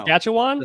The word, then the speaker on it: Saskatchewan: Sask. Saskatchan maybe. I don't know. Saskatchewan. Saskatchewan. Saskatchewan. Saskatchewan. Is that right?